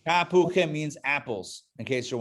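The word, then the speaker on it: תפוחים: It's ta, then hu, and then chim. Tapuchim. Tapuchim means apples, in case you're wondering.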